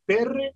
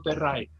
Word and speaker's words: Terrae: ¿Es Terre o Terray? ¿Cómo se pronuncia? Terray. Terray, gracias. Mundus Basilus Terray.